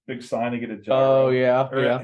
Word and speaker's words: gyro: sign to get a gyro yeah is that how you say it I thought it was hero but well yeah gyro for me I'm okay it's all